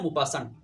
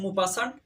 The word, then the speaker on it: Maupassant: তার পুরো নাম হচ্ছে অনেক লম্বা, হেনরি রেনরি আলবার্ট গি দা মুপাসান্ট। এই মুপাসান্ট বা মুপাসা বাংলার মধ্যে এই নামের বানানটা পরীক্ষার মধ্যে আসে, ঢাকা বিশ্ববিদ্যালয়ে একবার এসেছিল। সেটা হচ্ছে MAUPASSANT, মুপাসা। MAUPASSANT, মুপাসা।